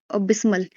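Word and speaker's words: abysmal: Pronunciation अब बिस्मल।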